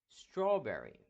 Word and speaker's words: strawberry: Ah aqui temos strawberry strawberry morango strawberry dois R também uma junção dessa da consoante que vai ter o som de uma só um só R strawberry importante o w